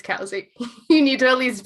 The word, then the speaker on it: Covesea: caves even though it says cosik's it is cowsy i spent two months on my phd pronouncing it wrong until finally my supervisor had to pull me aside and be like alex it's casey you need to at least pronounce the name